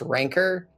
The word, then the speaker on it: Rancor: Rancor is actually pronounced Rancor, but I think it sounds way less cool.